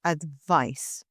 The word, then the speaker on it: advice: advice is the noun advice is written with a c and it's pronounced advice and this is a